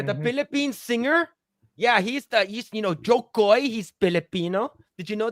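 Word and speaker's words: Jo Koy: You have to say it like, oh, Jokoy.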